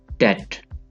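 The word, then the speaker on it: debt: डेट, कर्ज, डेट। इसको भी लोग डेप्ट कहते हैं, डेप्ट। तो इसको आप पढ़ेंगे डेट, कर्ज।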